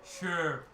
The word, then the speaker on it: Shere: No, the last E is silent, so his name is Sure.